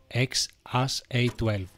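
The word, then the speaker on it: X Æ A-12: Δεν έχω ιδέα πώς προφέρεται αλλά ο Marx το προφέρει. Xas A12.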